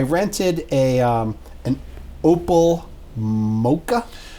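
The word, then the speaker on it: Mokka: a um an opal mocha now you've pronounced it mocha but it's spelled m-o-k-k-a I think it might be Maca okay so you open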